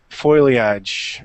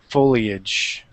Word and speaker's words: foliage: light forite come on here is another case of metasis place switching of sounds remember the I comes after the L as in related folio yep so Le a